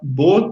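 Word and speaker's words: Beau: Eu vi há pouco, há poucos dias, chama Bo tem Medo. Não sei se alguém aí já viu. Bo é é um nome francês que se escreve assim, B e A U.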